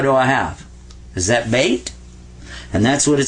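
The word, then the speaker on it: بيت: And this is ta, beta, bait. So that's how you say house in Arabic.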